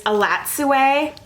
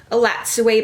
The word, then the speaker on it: Elatsoe: from Books and Lala as a recommendation, is Elatsoe. I think I'm finally pronouncing this correctly. I've been saying it wrong before. Elatsoe by Darcy Little Badger.